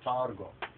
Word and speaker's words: Targum: white Jewish pronunciation says Targum. According to the Ethiopic, we say tergume, but most Ethiopians today will say tergum, but actually this is a gwe, tergum, right?